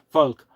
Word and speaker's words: Volk: I mean, okay, I'm pronouncing it as German, but the v in German, it's a f in English, folk, and but it's not,